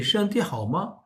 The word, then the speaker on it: 身体: 身体라고 t를 삼성 발음을 원래대로 해도 되고 아니면 니 身体好吗? 말을 붙여서 하다 보면 身体가 삼성으로 안 나가고 경성이 될 수도 있습니다.